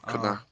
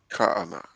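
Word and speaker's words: Kanah: No, Kana, Kana. Kaana, Kaana, Slakia, Slika.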